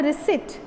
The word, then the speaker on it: receipt: model i have the receipt receipt is what this is not receipt this is reset r-a-c-e-i-p t is sit okay p is silent here intact enclosed are the